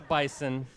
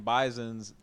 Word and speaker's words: bison: not a big deal it's a Z sound right Ricardo we learn